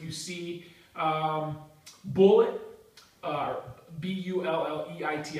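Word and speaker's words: Bulleit: see um bullet uh b u l l e t i pronounce it bullet I don't even know if that's right uh they're actually on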